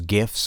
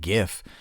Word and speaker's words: GIF: I've always pronounced my my G's with a G. You know, if someone likes other men, they're gay. So, GIF.